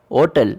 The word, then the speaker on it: hôtel: Where animal, l'ordinateur, and argent are beginning in vowels, and hotel where H is silent.